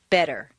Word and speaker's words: better: the T and listen the Double T in better is pronounced d better any other pronunciation will